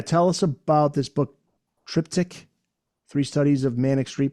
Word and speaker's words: Triptych: But anyway, yeah, tell us about this book, Triptych, Three Studies of Manic Street Preachers. Did I pronounce that right?